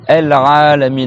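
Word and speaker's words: العالمين: Il y a le Rain, Al-Ra, et après, il faut bien prolonger le A.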